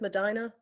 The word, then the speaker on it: Medina: uh Shelly dropping in the chat to say Medina County Earth Day Festival am I pronouncing that correctly it is Medina okay thank you I'm getting a couple nods